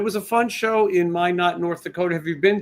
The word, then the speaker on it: Minot: a fun show in Minot, North Dakota. Have you been to Minot before? I have not. It rhymes with why not.